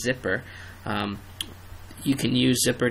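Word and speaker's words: zypper: a system update using I believe the pronunciation is zipper um you can use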